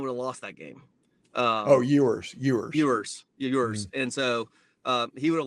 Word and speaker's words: Ewers: I mean, Alabama last year was fortunate to have how do you say his last name, Irwin, get hurt, because if he hadn't, Alabama would have lost that game. Ewers.